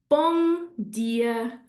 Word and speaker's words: bom dia: So what we could do when we see a word ending in an M is to actually make it NG. So if I ask you to say this now, have a go with me. Bom dia, bom dia.